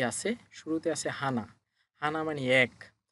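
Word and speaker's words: 하나: তো কিভাবে হানা হলো? এটা হচ্ছে হিউত, এটা হচ্ছে হিউত। যেহেতু হিউত উপরে আছে তার মানে হয়ের সাথে হা। এরপর এটা হচ্ছে নিউন, নিউন যেহেতু উপরে আছে প্রথম বর্ণ উচ্চারণ হবে ন, তাহলে নয়ের সাথে না, হয়ের সাথে হা, নয়ের সাথে না, হা না। হানা মানে এক।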